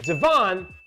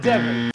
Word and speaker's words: Devon: to say the name it's devon dottie devon not devon devon now when i reached